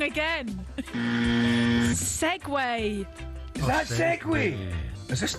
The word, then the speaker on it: Segway: Segu. Both wrong again. Segway.